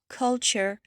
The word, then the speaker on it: culture: A à la fin des mots comme animal, technical, phénominal, all r e comme culture, architecture, literature, ça se prononce comme si vous aviez carrément un t ch à la fin.